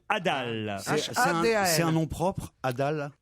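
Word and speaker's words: hadal: Et là, ça s'écrit H-A-D-A-L, l'étage Adal.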